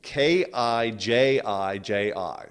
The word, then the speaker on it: Kijiji: Kijli. I'm going to spell it because it's such a goofy name. Kijiji.